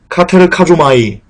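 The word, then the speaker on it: κατεργάζομαι: 여기서 이루라는 말은요, 카테르카조마이 라고 발음하는데요.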